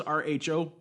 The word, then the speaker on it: rho: to worry about row row is rho there Tim not I can see why you want to spell it like a row of Cheers but rho just a